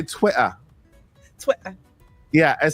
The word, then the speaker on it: Twitter: really fun fact is we don't pronounce our T's if they're in the middle of words we use D's like even we've been saying Twitter it's Twitter Twitter but like we're saying Twitter Twitter you know a bottle